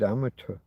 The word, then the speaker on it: amateur: gentleman is the unpaid amateur. Um, hello Hannah. How are you doing? Nice. Um, now amateur. I'm not I'm not a fan of the the ch pronunciation of the t eu.